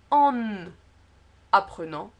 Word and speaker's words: en apprenant: Dans cette liaison-là, le N n'est pas prononcé dans le en, donc c'est en. Par contre, il est prononcé en début de mot, et je l'ai écrit ici en tout petit. En apprenant. Voilà. Donc ce n'est pas en apprenant, mais c'est vraiment en apprenant.